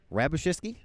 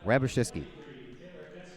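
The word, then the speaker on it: Hrabusicky: be us I CKY the H is silent right okay rabbie ciske okay got it ravish this key I'll get there one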